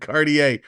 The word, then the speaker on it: Cartier: Cartier is pronounced like Cartier, the fancy brand Cartier.